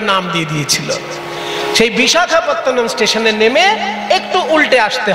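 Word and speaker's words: বিশাখাপত্তনম: স্টেশনটা নামতে হয় সেই বড় স্টেশনটার নাম হচ্ছে বিশাখাপত্তনাম দক্ষিণ ভারতে যেতে গেলে দেখবেন একটা বড় স্টেশন আছে বিশাখাপত্তনাম ইংরেজরা অত কঠিন নাম উচ্চারণ করতে পারতো না বলে তারা নাম দিয়েছিল ভাইজাক ওই জন্য সবাই এখন ভাইজাক ইংরেজদের শেখানো না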